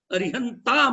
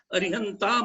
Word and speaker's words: अरिहंताणं: मंगलम चारों मंगल है अरिहंताणं मंगलम अरिहंत मंगलम नहीं बोलो है अरिहंताणं मंगलम सिद्ध मंगलम साहू मंगलम